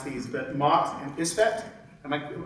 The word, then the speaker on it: Isfet: and I may mispronounce these, but Mot and Isfet. Am I pronouncing those correctly?